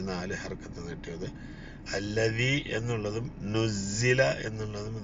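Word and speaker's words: نُزِّلَ: ഹർക്കത്ത് നീട്ടിയത് അല്ലി എന്നുള്ളതും നുസ്സില എന്നുള്ളതും ദായും സായും ആണ് നല്ല ഉച്ചാരണത്തിൽ വ്യത്യാസമുണ്ട് ശ്രദ്ധിച്ചു ഉച്ചരിക്കാം നുസില അലൈഹി ദിക്റ് വീണ്ടും ദാലാണ്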